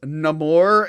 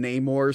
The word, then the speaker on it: Namor: The trailer when he went, my name is Namor, and I'm like, oh my god. If people tell me I have to pronounce his name like that when it's literally been Namor since the 60s, I'm going to lose my mind.